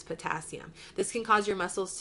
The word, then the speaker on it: potassium: Now, if you'll notice here, it's pronounced hypocalcemia, but the calcemia is spelled with a K. That's telling you it's potassium.